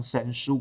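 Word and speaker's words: 神荼: 我只要刻上他们的名字，这其实念成神书跟玉律，就是两个门神的名字。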